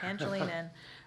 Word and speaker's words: Pangilinan: I wanted to make that G a hard G. Pangilinan, and then Mark Carradine.